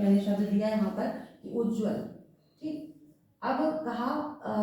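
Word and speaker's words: उज्ज्वल: नहीं है ठीक है तो सही उच्चारण क्या होगा सही उच्चारण यहा पर कहता है उज्जवल ठीक है दो ज जो होंगे बीच के दोनों ही आधे होंगे ये सही उच्चारण होगा उज्जवल और जब आप इसका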